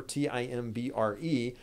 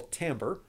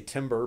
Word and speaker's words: timbre: Another question I had in advance was about the word timbre, T-I-M-B-R-E. First of all, how do you pronounce that? Well, timbre, like that. Looks like you might say timber, but it's pronounced timbre.